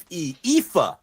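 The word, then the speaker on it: Aoife: how to pronounce okay it was spelled a-o-i-f-e IFA is how you pronounce that FIFA I'm being told but they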